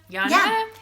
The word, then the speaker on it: Yana: to talk about the channel mom Jana challenge Yana it's Jana too what is Jana I think